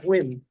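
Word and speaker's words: Huynh: hu y NH H and he said it's pronounced wiim he is the President we have no changes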